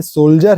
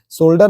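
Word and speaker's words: soldier: भी कभी होता था य सोल्जर है ये सोल्डर नहीं बोलते हो सकता है कभी-कभी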